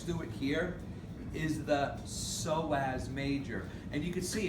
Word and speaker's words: psoas: it here is the psoas major and you can see it's spelled p-s-o-a-s the p is silent we just say psoas so watch this what